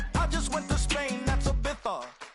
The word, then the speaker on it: Ibiza: Yeah, it's pronounced Ibiza, actually. Yeah.